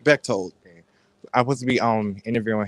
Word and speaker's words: Bechtold: Well, Monday we're supposed to be having an interview with Alex Boko. Did I say that wrong? Yes. Say his name right. Bechtold.